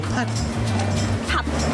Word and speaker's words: 팥: 파 아니고 팥.